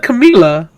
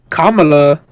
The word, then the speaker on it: Kamala: actual thing what do you mean i said camilla that's not pronounced um for her name wrong and they say he was racist for that so you're racist right that is kind of racist bro kamala what the i did not